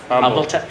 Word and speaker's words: Humble: went to is it Humble? Yeah, Humble. I always get confused. It's like, do you pronounce the H or The H not? is silent.